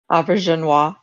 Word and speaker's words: Auberjonois: I was hoping it was going to be Odo or somebody who was because Renee Auberjonois. Can you correct me on the pronunciation, wife? Auberjonois.